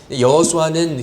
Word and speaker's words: 여호수아: 땅으로 인도하는 지도자의 이름이 여호수아 합니다 예수 입니다 여호수아는 히브리 씩 발음 이구요 예수는 헬라어 시 바랜 인 것이죠